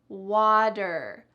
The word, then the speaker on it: water: Listen to the pronunciation. Water, water. What's happening to that T in the middle of this word? Water. It sounds just like a D sound.